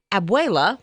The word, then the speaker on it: abuela: because I wanted to get the correct Princeton pronunciation so hopefully I got it right but anyway she said abuela which I knew this is the term for